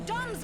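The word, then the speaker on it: DomZ: The Dom's meteors got through the shields. Okay, so he is pronounced doms.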